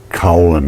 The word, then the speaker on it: kaolin: There's another form of clay called kaolin clay, K-O-L-I-N, kaolin, I pronounce this. It begins with a K.